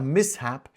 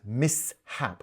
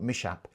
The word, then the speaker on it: mishap: By the way, a mishap is pronounced mishap, not mishap, mishap.